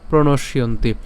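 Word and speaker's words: প্রণশ্যন্তি: যুক্ত তরসিকা এটাকে আমরা উচ্চারণ করছি তাহলে আমরা উচ্চারণ করলে কেমন হবে এটা কুলক্ষে প্রণশিয়ন্তি কুল ধর্মা কুল ধর্মা সনাতন ধর্মে নষ্টে কুলং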